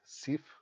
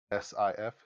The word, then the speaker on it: Sif: This will have to do with Thor, his wife, whose name is Sif, s i f, Sif, and Loki.